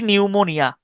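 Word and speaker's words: pneumonia: Psychology এবং হচ্ছে নিউমোনিয়া এই দুইটার শুরুর দিকের যে পি এটা কোন উচ্চারণ হয় না এটাকে আমি উচ্চারণ করতে পি নিউমোনিয়া পি নিউমোনিয়া পি এনই ইউ নিউ এম এন আই পি নিউমোনিয়া।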